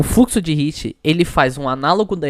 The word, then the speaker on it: Ricci: hiit pessoal foi ou Rice né Como se pronuncia este esse cara aí é o fluxo de Ricci ele faz um análogo da equação do calor